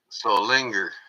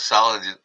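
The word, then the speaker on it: Solingen: Yeah, that's how you pronounce it. So linger.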